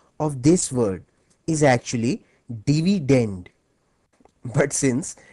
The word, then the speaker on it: dividend: as dividend by the way the correct English pronunciation of this word is actually dividend but since divident ranks better with divisor thus the students prefer